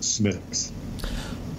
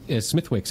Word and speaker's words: Smithwick's: Stocking beer and I'm telling him how to pronounce Smith's well so what if you what if you just ordered it as Smithwick's everywhere and accepted the the fact that people